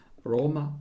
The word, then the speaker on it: Roma: roma on the napoli with italian pronunciation roma napoli in both this italian world the accent falls on the first syllable syllable in this two